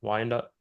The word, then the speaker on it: Wyandotte: he said that, they started doing kendama nights for everyone in, I don't know how to say this, Wyandotte. Wyandotte, Yeah, Michigan.